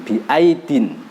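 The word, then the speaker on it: بِأَيْدٍ: ya didahului dengan sukun biaidin. Mari kita praktekkan cara baca bersama-sama. Bismillahirrahmanirrahim. Was-samaa'a banainaha biaidin wa inna lamusi'un. Jangan dibaca biai atau biai, jangan, cepat saja.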